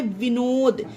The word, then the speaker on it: Vinod: अब एग्जाम्पल देखिए, VINOD, इसमें डी आया, ये किसी भी पर्सन का नाम है, विनोद, इसे विनोद पढ़ेंगे फ्रेंड्स, है ना।